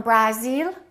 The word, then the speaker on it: Brazil: I am from Brazil? No, this is no longer it's Brazil. Brazil. So you see, you always have to ask yourself which syllable is stressed.